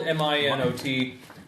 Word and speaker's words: Minot: why not oh with the T okay yes it's spelled m-i-n-o-t but it's it's pronounced Minot okay and basically